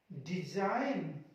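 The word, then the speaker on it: design: अगला देखिए जी साइलेंट, जी को कहां साइलेंट करना है, एन से पहले। कहां पे, एन से पहले गाइस आपको इस जी को साइलेंट रखना है।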